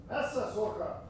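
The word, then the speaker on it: Messsucher: I mispronounce things all the time. We'll say it again, Ern? Messesucher.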